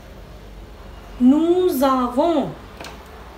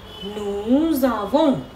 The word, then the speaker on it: nous avons: It is happening because here it is ending with S and the avo is starting with the vowel. So it has a sound of liaison, that means nous avons,